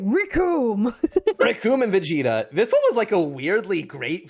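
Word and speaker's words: Recoome: Rickoom and Vegeta. This one was, like, a weirdly great fight. Like, why was this fight so exciting? Because the name's Rickoom, and it rhymes with Doom.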